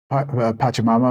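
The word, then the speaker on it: Pachamama: for so apologize I mispronounced that it should be pronounced patam Mama of course and uh that they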